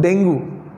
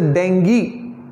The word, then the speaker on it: dengue: we both fell right it's not dangle it's a dengue it's a d e and g ee dengue it's a dengue it's